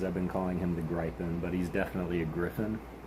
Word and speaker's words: Gryphon: been calling him the Griffin, but he's definitely a griffin. But it's not spelled Griffin, it's spelled Gryphon. And so, but it's definitely a griffin and the faux turtle.